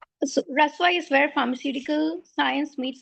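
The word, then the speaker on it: Rasva: So Raswa is where pharmaceutical science meets Ayurveda.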